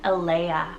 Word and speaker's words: Alea: For another girl and boy sibling here, we have Enzo and Alea. So E-N-Z-O and Alea is E-L-A-I-A.